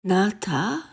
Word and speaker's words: Nata: The name of the hero of the Aztec story, Nata, pronounced with the broad sound of the A, is not far from the name of Noah or No.